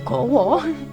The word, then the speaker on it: gawa: dibikin dalam romaji itu gawa pakai a ya, G-A-W-A. Tapi karena hukum bacaan dalam bahasa Jawa, a itu bisa berbunyi a dan bisa berbunyi o, jadinya gowo. Jadinya gowo itu tulisannya gawa.